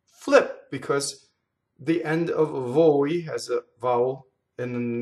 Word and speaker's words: voi: Now, VOI does not rhyme with boy or toy. It's voi. VOI is closed. Voi, right? So you practice vo, like vote, right? Vo-i. Voi. Very fast.